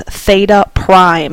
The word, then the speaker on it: theta prime: We represent the reference angle with this theta prime is how you pronounce it. So our reference angle, or theta prime, is 30 degrees.